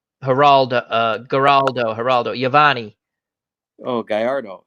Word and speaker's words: Gallardo: I can never pronounce this guy's name. Geraldo, Giovanni. Oh, Gallardo. Gallardo, thank you.